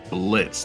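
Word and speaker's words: Blitzø: on an imp named Blitz the O is silent who is trying to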